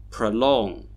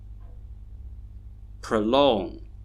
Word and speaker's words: prolong: And that's because although they have 2 syllables, one syllable is a stressed syllable and the other one is an unstressed syllable. The unstressed syllables actually have schwa sounds in them.